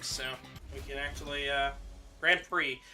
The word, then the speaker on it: Grand Prix: both ways uh it's it's primarily Grand Prix but a lot of people will also just say gr Pricks because of the X I mean that's how